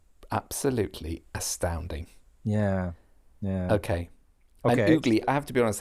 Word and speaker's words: ugli: It's pronounced ugly.